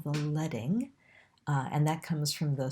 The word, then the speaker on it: leading: which we call the leading and that comes from the strips of lead that were used to be put in type that was used in presses so it's pronounced 'ledding' not 'leeding' the space between groups